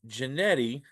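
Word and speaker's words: Jeanty: you think uh should win it uh it's janetti there it is yeah and uh if if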